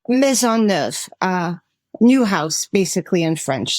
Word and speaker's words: Maisonneuve: How is that pronounced? Maisonneuve, new house, basically in French.